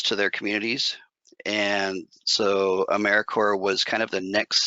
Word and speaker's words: AmeriCorps: First of all, AmeriCorps is it's pronounced AmeriCorps, and the P and the S are both silent.